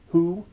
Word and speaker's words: who: and not the H, it is the H and not the W which is sounded in who, whom, and whose.